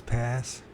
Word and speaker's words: Passchendaele: I don't know how to pronounce it. It's Passchendaele.